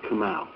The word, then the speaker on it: Kamal: Kamal, and that's spelled K-A, M as in Mary, A as in Apple, U as in uniform, and it's pronounced Kamal.